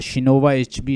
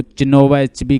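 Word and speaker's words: Chinua Achebe: Things fall apart, शिनोवा एचबी इसका नाम है। अक्सर लोग इसको चिनोवा एचबी कहते हैं, लेकिन असल इसकी प्रोनाउंसिएशन मैंने देखी है शिनोवा एचबी।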